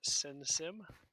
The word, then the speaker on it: SynSym: In case you're wondering, it's pronounced Sinsim, which is why all my followers are called sinners.